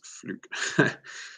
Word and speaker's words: fluke: Puppy, how do you pronounce fluke? So there's two ways that we can pronounce it here in South Africa. We say fluke, but a lot of us, including me, we say fluk.